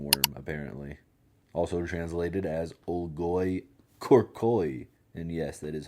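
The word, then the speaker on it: olgoi-khorkhoi: Also translated as Olgoy Corcoy. And yes, that is how you pronounce it.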